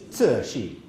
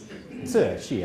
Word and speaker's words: Cixi: So she is the Dowager Empress Cixi. Cixi.